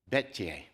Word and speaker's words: Bettye: exactly but I can hear it he said bet the old Welsh pronunciation of the Betty with an e on